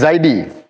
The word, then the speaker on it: Zaidi: So my name is Zaidi. Apparently, the Chinese cannot pronounce that properly, so they call me, hey, Jaidi.